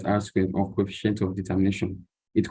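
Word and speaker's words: R²: of the metrics here the R2 is called Arrow squared pronounced as r squared of coefficient of determination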